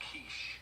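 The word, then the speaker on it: quiche: Is pronounced kiche.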